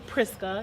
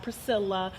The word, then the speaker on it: Priska: and be like okay everyone's gonna call me priska not priscilla not priced cannot whatever you feel is easier for you yeah you're gonna say